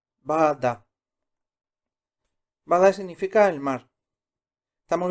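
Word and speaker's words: 바다: La segunda, Bada. Bada. Bada significa el mar. Estamos viendo palabras bisílabas.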